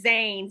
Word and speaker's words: Zayn: Is am I pronouncing it right when I say Zane? Terry says Zane.